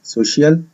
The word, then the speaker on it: social: وعندي في كلمة Social ال CIA بتنطق شا Social, و Studies ال S في آخر الكلمة بتنطق Z Studies, يبقى على بعضها Social Studies.